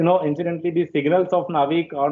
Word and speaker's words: NavIC: already gripped on this navic stands for navigation with Indian constellation so we pronounce it as navik which was earlier known